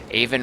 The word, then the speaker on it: Aven: Aven rhymes with raven.